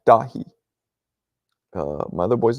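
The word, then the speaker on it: Dáithí: my boy's name is David right and it's pronounced dahi uh my other boy's name is Patrick it's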